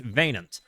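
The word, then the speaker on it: Wynand: Um but it's pronounced vain.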